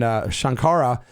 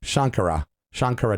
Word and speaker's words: Shankara: And Shankara is more like a Western pronunciation, and that's cool. There's no one's going to strike me down for pronouncing it wrong, but certainly the respect is there for me. Shankara is the more of the pronunciation that's the Eastern pronunciation.